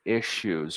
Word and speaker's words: issues: syllable here issues now the double s usually has a sh sound issues why it's hard to